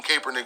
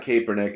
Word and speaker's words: Kaepernick: trump and this anti-colin kaepernick stuff way way before that when i it surprised me overall like how many names they mispronounced it's not kaepernick it's kaepernick and if you watch football